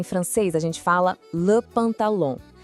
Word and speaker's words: pantalon: Em francês, a gente fala le pantalon. Presta bem atenção nesse final, que é meio anasalado. Ouve só. Pantalon. O som sai um pouco pelo nariz, sabe? De novo, comigo. Le pantalon.